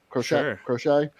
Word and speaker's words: Crochet: I was gonna say Garrett Crochet, or is that how we pronounce Crochet, it? yes. Crochet.